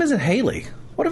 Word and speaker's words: Hallie: a very interesting spelling I think her name is Haley um but she spells it h a l l i e and so then it